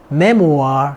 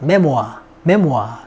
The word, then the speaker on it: memoir: prime, 전성기, memoir, 회고록, memoir 그렇게 발음해요. memoir. 근데 이제 영국에서는 R 발음이 없어지면서 memoir 그렇게 발음합니다.